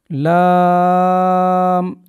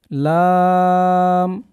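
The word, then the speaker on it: لام: এরপরের হরুফ লাম এটাও তিন আলিফ টান দিয়ে পড়তে হবে। লাম এরপরের হরুফে আমরা যাব মিম।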